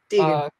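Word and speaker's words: Diegan: about important in these two books is it pronounced Deegan? Deegan.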